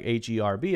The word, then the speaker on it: herb: words have this but in the case of a word like herb Americans say herb we cut out the H sound and we say our